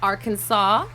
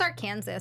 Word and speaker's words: Arkansas: it I'm like that's Arkansas I don't know why you're trying to tell me that's Arkansas yeah yeah you know I agree that that S is silent but anyways you guys